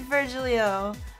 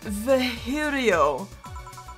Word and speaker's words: Virgilio: You look winded, Virgilio. It's pronounced Vahirio. No, I'm pretty sure it's Virgilio.